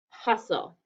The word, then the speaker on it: hustle: at our second syllable it should be consonant le but it's not it's an exception we don't hear the e or the t okay and i built